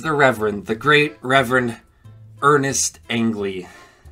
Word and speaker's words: Ernest Angley: In case Heritage Christian School wasn't enough for him, there was the Reverend, the great Reverend Ernest Angley, or as he pronounced it, Ernst Angley.